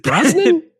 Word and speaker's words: Brosnan: Is it Brosnan? Yeah, it's Brosnan. How else would you pronounce that?